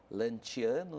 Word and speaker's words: Lanciano: muito muito linda né o próprio nome né lanciano se escreve Luciano se se fala lantiano né e diz a